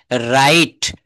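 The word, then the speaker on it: write: মজার দেখেন ডবলিউ এর পরে এইচ অথবা আর থাকলে ডাবলিউ এর উচ্চারণটা হয় না। যেমন এখানে রাইট রাইট ডাবলিউ আর আইটি।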